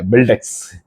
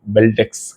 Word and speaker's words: Beldex: So again நம்மளுடைய ஃபேவரட்டான topic பில்டெக்ஸ். சத்தியமாகவே எனக்கு இவ்வளோதான் ப்ரொனன்சியேஷன் வருது. இந்த வீடியோ வந்து போட்டிங்கனாலே நீ இதை ஒழுங்காக ப்ரொனவுன்ஸ் பண்ணுன்றாங்க. சத்தியமாக இவ்வளோதான் வருது. பெல்டெக்ஸ், பிஎல்டிஎக்ஸ், பெல்டெக்ஸ்.